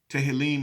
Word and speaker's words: Tehillim: remember in in Hebrew they don't call him songs no samos they call him uh telly telly he - Helene Tammy I was noting that mr. Nelson tell him I would pronounce but it's not - Helene Tehillim is the Psalms and in Hebrew Samos